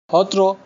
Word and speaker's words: Satra: यहाँ पर कई होत्रो है। असमीज में स का प्रोनाउंसिएशन ह से होता है।